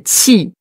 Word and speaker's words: Qigong: En chinois, c'est Qigong. Gong, c'est le premier ton.